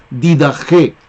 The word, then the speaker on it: Didaché: Se escribe Didaché, pero allí la Che se pronuncia como J. Didaché.